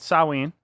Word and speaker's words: Samhain: Pay no attention to how it's spelled. It's not. It doesn't sound like it's spelled. It's called Samhain.